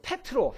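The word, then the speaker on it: Πέτρος: 그래서 피터라는 말이 그 페트로 헬라어로는 페 그 피터라는 발음이 헬라 발음으로는 페트로 페트로 이게 피터가 됐어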